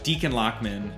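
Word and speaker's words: Dichen Lachman: And shout out to, I believe it's pronounced Deacon Lockman.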